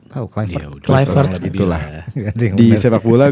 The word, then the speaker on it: Kluivert: Gue kalau ngelihat jejaknya Kluivert, cara pronounce-nya gitu ya, Kluivert. Tahu Kluivert.